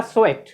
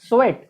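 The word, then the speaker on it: sweat: तो होगा स्वेट। स्वेट, स्वीट नहीं, स्वीट के माने मीठा होता है, इसका प्रोनाउंसिएशन होगा स्वेट। तो स्वेट के माने पसीना।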